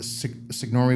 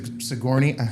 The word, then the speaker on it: Sigourney: I watched the first Signor Signori Weaver and Sigourney. I'm mispronouncing my name.